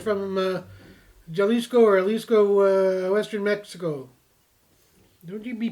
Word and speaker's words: Jalisco: No, I think it's pronounced Jalisco.